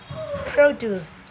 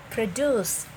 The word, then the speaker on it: produce: and it is pronounced produce produce right the the stress is on the first syllable right but when it is a verb it is pronounced produce produce okay the stress